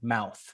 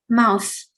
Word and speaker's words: mouth: more time for me mouth mouth mouth mm-hmm get your tongue under your front top teeth and so you don't have that s sound one more time mouth mouse mouse okay good you're